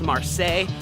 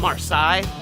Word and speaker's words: Marseille: end by the way I figured out it's pronounced Marseille not March side noob we're on our way to the non